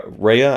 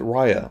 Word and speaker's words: Raya: a separate video uh reya and the last dragon was it raya i think it's raya raya raya